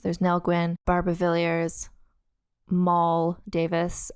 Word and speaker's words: Moll: So there's Nell Gwyn, Barbara Villiers, Moll Davis. I learned how to pronounce that from a Tits Out Brigade member who generously explained to me it's like Molly, but without the Y.